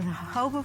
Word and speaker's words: jojoba: medicine chest will discuss jojoba the miracle plant of the desert jojoba is spelled jo-jo ba but is pronounced according to its Spanish origins the hobo plant grows in the